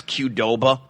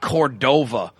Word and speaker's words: Qdoba: You know how long, by the way, it took me to pronounce Qdoba? I was calling it Cordova, like in medieval Spain.